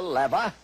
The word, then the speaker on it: lever: the lever or as some pronounce it the lever, the incline plane, the wheel and axle, the screw, the wedge and the pulley.